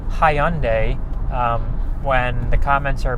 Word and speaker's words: Hyundai: I was calling it Hyundai when um the commenter, you know, said it's more it's more pronounced like Sunday. If you think about like the the day Sunday, it's pronounced Hyundai, more pronounced like that.